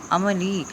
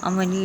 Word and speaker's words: عملی: عملی لفظ عمل ہوتا ہے، عملی. عین پہ زبر، میم پہ زبر، لام کے نیچے زیر اور یہ پہ جسم. عملی لفظ بنا.